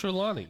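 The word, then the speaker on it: Trelawney: the names wrong anyway it's not troll when he's like not even close I don't know I just it's trelawny I read it wrong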